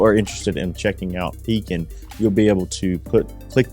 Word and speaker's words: Pekin: we're going to hear a little bit about Pekin Insurance. We've been doing business with Pekin Insurance for several years. Not Peking, not Pekin, as some of our customers often mispronounce it.